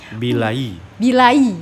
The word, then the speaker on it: Bilai: Bilai, ya, Bilai, gitu.